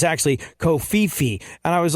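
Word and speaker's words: covfefe: Kofifi? I pronounced, like I said, Kofif the other day, and someone was like, it's actually Kofifi.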